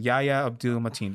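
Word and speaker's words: Yahya Abdul-Mateen: Yaya Abdul-Mateen.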